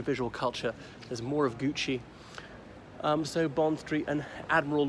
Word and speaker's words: Gucci: watches okay and ducky I never heard of gucky what's go about oh sorry it's Gucci they're often Italian and